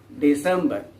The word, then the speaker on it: December: the last month is december the accent here the stress here falls on the second syllable of the word december december in the beginning your